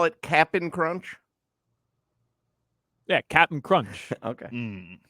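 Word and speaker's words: Cap'n Crunch: so you call it Captain Crunch yeah Captain Crunch okay because it is spelled that way capap apostrophe n but everyone knows it's Captain crun but I'm not I'm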